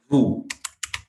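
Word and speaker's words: vous: फिर हमने उसके बाद करा था एक्सप्रेशन, हाँ वू। ओके, अब वू में देखो हमने एस प्रोनाउंस नहीं करना, ओजू की साउंड क्या है मैंने आपको बताई है, ऊ ऊ, सो इट इज वू वू।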